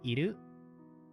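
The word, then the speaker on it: いる: The kun readings of it are iru and kaname.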